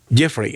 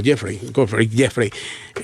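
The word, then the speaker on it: Geoffrey: El fiscal Jeffrey, así es que se pronuncia, Jeffrey Bernam, fiscal de Manhattan, dijo que se trataba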